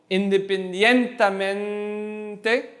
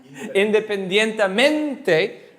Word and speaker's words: independientemente: be pronouncing a word, which part do you lift up for the sound? The second to last. The second to last. So it could be 10 syllables, could be one syllable or two syllables. It's the second to last, right? So independientemente, independientemente, right?